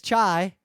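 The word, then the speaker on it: çay: And the word for tea is chai. Oh, that's a hard word. It's spelled differently.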